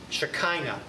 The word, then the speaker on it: Shekinah: don't picture white puffy clouds it's the and it's spelled wrong in your outline it's not it it's shekinah s-h-e-k-i-n-a the shekinah glory cloud always in the